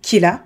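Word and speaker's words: Kira: qui est le surnom Killa, qui est la prononciation japonaise du mot killer en anglais, et qu'il se fait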